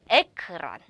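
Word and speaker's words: ekran: 근데 르아 어른 에크란 에크란 어르 발음 영어의 르 발음과 똑같아요.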